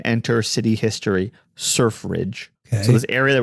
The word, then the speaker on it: Surfridge: City at Sea is surf Ridge is what it's called surf Ridge I wouldn't know I don't know if that's necessarily easy to pronounce it also sounds like sir fridge I didn't know sir